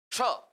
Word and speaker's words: क्ष: इसका उच्चारण कई लोग तो करते हैं, अक्ष पढ़ते हैं, अक्ष। हमारा उच्चारण ठीक हो, ये कोशिश हमें करनी चाहिए। ठीक है। क्ष, क्ष, क्ष, ये होता है क्ष, क्ष, अक्ष नहीं, क्ष।